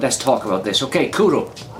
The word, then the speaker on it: Cwrw: the bottle here it tells us that Cwrw, pronounced Cwrw, now I know how to pronounce it, I'm Welsh, but for any viewers here who are not Welsh, first of all my commiserations, but Cwrw is pronounced Cwrw.